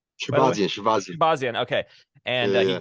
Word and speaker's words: Shahbazyan: Am I pronouncing that correctly? By the way, Shahbazyan. Shahbazyan.